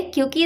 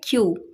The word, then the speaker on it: queue: क्योंकि इसकी स्पेलिंग देखिए, इसके स्पेलिंग में 5 लेटर्स हैं, लेकिन इसको हम सिर्फ बोलते हैं क्यू। तो इसकी करेक्ट प्रोनाउंसिएशन होती है क्यू। 5 लेटर्स में सिर्फ क्यू को हम प्रोनाउंस करते हैं, बाकी जो और लेटर्स होते हैं वो ऑलमोस्ट साइलेंट ही होते हैं।